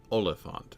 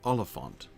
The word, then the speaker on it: Oliphant: The word Oliphant, right? Which is itself stress, unstressed, unstressed, right? Oliphant.